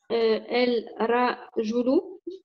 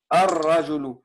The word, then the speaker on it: الرجل: El rajulu Oui, c'est bien, mais sauf que dans le rajulu, c'est une lettre shamsia, donc tu prononces jamais le lam. Tu diras ar-rajulu.